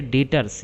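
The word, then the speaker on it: Debtors: सब लेनदार हो गए अगला वर्ड है डेटर्स यहां बी साइलेंट रहता है तो इसको डेटर्स पढ़ा जाता है डेटर्स मतलब देनदार जो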